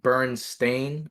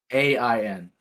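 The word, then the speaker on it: Berenstain: and like Bernstein or Bernstein. I Yeah. don't know how to Mhm. pronounce it, but it's actually stain, like a stain on your clothes. Mm-hmm. So it's I let you photo. Bernstein.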